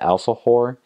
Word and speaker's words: alfajor: There's another food that they have there, it's called the alfajor. That's spelled Alfajor. And so that's just how they pronounce it in Spanish.